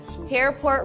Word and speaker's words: Hairport: Hairport rhymes with airport, so all of my stuff is boarding passes.